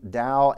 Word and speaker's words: DAO: So data access object could be pronounced DAO or DAO, rhymes with cow.